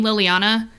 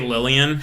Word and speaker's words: Liliana: Like, I stopped saying Liliana for many years now. Oh, because they would say Lillian when they'll be like Lillian.